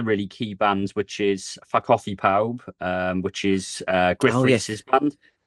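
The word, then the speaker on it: Ffa Coffi Pawb: But if you phonetically say it in Welsh, it sounds like it's saying "fuck off, everybody."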